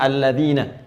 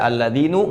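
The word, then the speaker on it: الذين: Karena itu dibacanya alladzina. Kita tidak baca alladzinu enggak ada alladzini selalu na mabni tetap dalam harakat ini.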